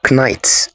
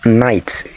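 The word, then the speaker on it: knight: silent letters in them would you say knite or night well it is night because the silent letter there is the letter K would you say Castle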